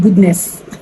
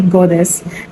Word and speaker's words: goddess: I used to call it goodness before, but it's actually goddess.